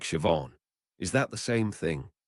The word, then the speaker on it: Siobhan: Lots of Gaelic words that start with S. I seem to have a sh sound like Siobhan.